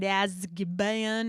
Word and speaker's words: Azkaban: When I first saw this, I was like, what is that even word, Azkaban? And yes, that's how you say it, Azkaban.